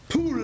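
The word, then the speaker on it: πύλη: It comes from the root pule, that's how it's pronounced.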